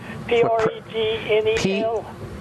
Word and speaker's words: pregnenolone: P-R-E-G-N-E-L? P-R-E-G, like pregnancy, preg. Yeah. N-E-N, like nen. N-E-N? Yeah. O-L-O-N-E, olone. Just think 3 words. O-N-E, preg, nen, olone.